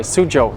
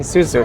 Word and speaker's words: Suzhou: Wow, Oh, Suzu is like every corner you turn. Sorry, Suzhou. I keep saying Suzu because it's spelled Suzu. Suzhou.